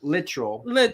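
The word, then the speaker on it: Littrell: And of course, we keep saying Luttrell. I think it's literal. But I'm so used to saying Luttrell, but I think it's actually Brian Literal. Is actually the way it's pronounced.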